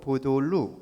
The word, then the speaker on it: 백다록: 무슨 푸른 녹자 이렇게 될 텐데 백다록인데 중국 발음으로 보돌루 이렇게 읽어요.